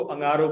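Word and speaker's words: انگارو: अंगारो, अलिफ पर जबर, ये सिंह जो हमने पढ़ा था, सिंह मीन्स हॉर्न, सिंह, ये सिंह, वो अलिफ के साथ कनेक्टेड है, जबर के प्रोनाउंसिएशन के साथ, ना, उसके बाद रे और वाव आपस में कनेक्टेड है जबर के साथ।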